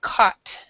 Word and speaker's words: caught: as pronunciation uh Thomas make sure these two words right here the U these sounds do do not make you don't make a sound at all so it's it's basically caught c a t I've